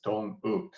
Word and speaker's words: Dong Wook: No, actually my full name is Dong Wook.